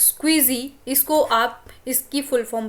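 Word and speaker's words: SCSI: हो ठीक है next S सीएसआई port pronounce स्क्विजी इसको आप इसकी फुल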